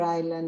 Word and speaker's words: island: don't know, on Easter Island, on Juan Fernandez Island, etc. As for Iceland, Island, not ice. island without Island. S. Yeah, because island, wait a minute. Here I'm writing the pronunciation, island.